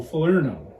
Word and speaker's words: Falernum: It says Falernum, pronounced fə-LUR-nəm, so phonetically spelled it's F-A-H-L-E-A-R-N-U-M, so Falernum.